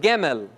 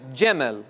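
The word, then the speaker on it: גימל: So this is actually pronounced in Hebrew, Gemel, Gemel. If you're a Yemeni Jew, you would say this as Jemel, which sounds like what?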